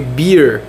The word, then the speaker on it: beer: foi cerveja, que foi beer. Ela é pronunciada igual beard, que é barba, mas ela não é escrita da mesma forma. Ela é escrita B-E-E-R.